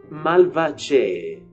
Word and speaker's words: Malvaceae: Pertence à família, o modo de se escrever isso é Malvaceae, mas a forma, a pronúncia correta é Malvaceae.